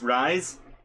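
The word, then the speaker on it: Reize: go now the captions his name is r-e-i-z-e i'm pretty sure it's supposed to be pronounced rise i think he makes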